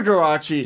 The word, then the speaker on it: Guarraci: how do you say your last name karachi garache yeah oh what's the name of your podcast